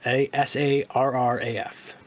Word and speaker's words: Sarraf: Let me get his last name just to make sure I'm pronouncing it correctly. Saraf. Sarraf.